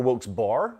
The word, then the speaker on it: Wilkes-Barre: Wilkes-Barre, or Wilkes-Barre, as they pronounce it where I'm from, is tuned in Pennsylvania.